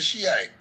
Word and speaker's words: Shiite: It's a Shiite.